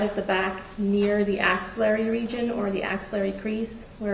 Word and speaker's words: axillary: And You describe that as the ancillary region? Axillary. AX. Axillary. You spell it for the court reporter?